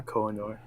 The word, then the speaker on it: Koh-i-Noor: I think back then Koh-i-Noor, is that how you pronounce it? Koh-i-Noor? Yeah, Koh-i-Noor.